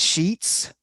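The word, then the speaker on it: escheats: word for this is that the property is sheets to the state or a sheets to the county and that word is spelled e e-s-c-h-e-a-t-s as sheets but it's not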